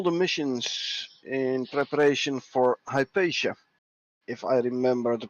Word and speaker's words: Hypatia: We have some people redoing all the missions in preparation for Hypatia, if I remember the pronunciation correctly.